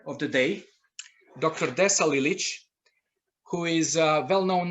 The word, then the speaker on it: Lilić: As Žika said, my name is Desa Lilić. However, locally it is pronounced Desa Lilac.